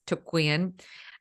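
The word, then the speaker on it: Thuc-Quyen: It's Tuk Nguyen.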